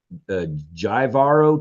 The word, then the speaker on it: Jivaro: it's a J, and it probably is not pronounced with a J, it's a H, but Jivaro tribe so excessively that they executed him by pouring molten gold down his throat.